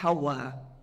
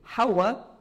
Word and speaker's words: Hawa: O W é pronunciado como V e o H não é pronunciado, ficou como Eva.